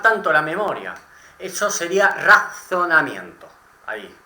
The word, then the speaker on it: razonamiento: Eso sería razonamiento. Ahí, bien pronunciando la Z. Razonamiento.